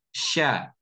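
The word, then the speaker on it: ش: Sehingga diucapkan sya. Bukan dengan memajukan bibir.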